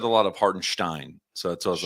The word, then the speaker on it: Hartenstein: I think you can say Stein. I think that the correct way to say it is Stein. Yeah, the But- German way. Like but- Schlecht. Yeah. But you can say it's Stein. Slecht. Just don't say Steen. Can we just say Slecht?